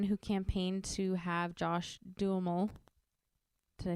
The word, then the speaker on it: Duhamel: So Katherine Heigl was the one who campaigned to have Josh Duhamel.